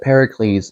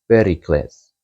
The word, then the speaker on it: Pericles: But Pericles is the way we pronounce it in English. And if you consider the Greek pronunciation, you would say Pericles.